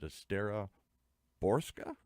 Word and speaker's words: Estera Borcsa: Is it Estera Borcsa? That's right. Boy, I practiced that for hours here. Borcsa, because it's spelled differently, but it's pronounced differently.